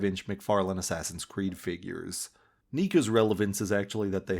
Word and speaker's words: NECA: has gone back to NECA , or uh... NECA ... National Entertainment Collectibles Association... I'm gonna pronounce it NECA , feel free to correct me in the comments if I'm being a dumbass.